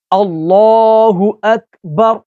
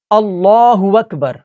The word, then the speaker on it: اللہ اکبر: غلطی کر جاتے ہیں۔ پہلے میں اس کو درست تلفظ کے ساتھ پڑھتا ہوں اور پھر میں آپ کو اس کی غلطی کے بارے میں بتاتا ہوں۔ اللہ اکبر، تو یہ اس کا درست تلفظ ہے۔ اس میں جو ہماری اکثریت غلطی کرتی ہے وہ پڑھتی ہے اللہ اکبر، اللہ اکبر۔ تو یہاں پر حمزہ کی جگہ واو کو پڑھ لیتے ہیں۔ اللہ وک، یہاں